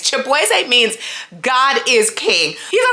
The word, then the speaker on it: Chibueze: Now, I don't know how people get Shaboozey from Chibueze because it's not that hard to pronounce. I'm not saying this just because I am Nigerian. It's literally Chibueze. Like, it's right there.